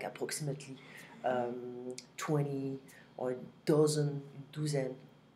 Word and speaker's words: vingt: We don't pronounce the G and the T. It's just a combination of different letters together that will give this un sound. 20.